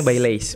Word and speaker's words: Baileys: Bacanya Baileys, benar.